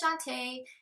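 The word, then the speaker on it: Shonté: what is my name so my name is Shantae it's felt SH Ont II was a little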